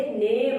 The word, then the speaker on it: name: किसी वर्ड के लास्ट में अगर ई आए तो हमेशा साइलेंट रहता है।